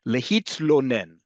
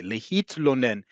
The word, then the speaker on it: lehitlonen: Lehitlonen. Excuse me. Lehitlonen is to complain. Okay? This is a hard sound because we don't have in English many words with a tl.